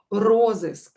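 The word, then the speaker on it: розыск: be in jail roses so here stress is on or on the prefix so of course we will write it with or roses roses so roses is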